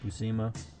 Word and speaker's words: Buscema: I always had problems pronouncing his name. Buscema.